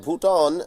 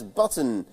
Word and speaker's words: Bhutan: political US President Donald Trump mispronounce Nepal as nipple and Bhutan as button during a briefing ahead